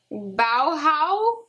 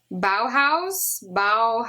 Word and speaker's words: Bauhaus: Bauhaus, it's like dead mouse. I think it's dead mouse, but Bauhaus.